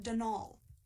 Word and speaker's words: Donal: the caretaker Donalda Lanie not Donald mind you there's no D at the end so it's pronounced dnal that's the way you're